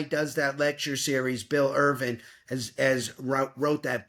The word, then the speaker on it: Irvine: The Good Life by William Irvine or Irvin I RV I ne he pronounces it Irvin and he's a philosophy